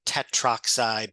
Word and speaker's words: tetroxide: The one little thing, especially just for oxygen, it's difficult to enunciate it would be difficult to say or pronounce tetra oxide. So many times that would be the A and the O. The A is dropped.